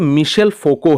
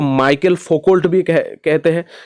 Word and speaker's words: Michel Foucault: को बता देता हूं इनका जो नाम है यह मिशल फोको है यानी कि प्रोनंसिएशन इस तरीके से होते हैं बहुत सारे लोग इसको माइकल फोकल्स भी तरीके से आप प्रोनाउंस करो इसमें कोई दिक्कत नहीं है जो ओरिजिनल प्रोनंसिएशन है वह है मिशेल फोको अब देखते हैं मिशल